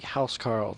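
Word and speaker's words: huscarl: Nord I believe it would be house Carl though it's spelled hu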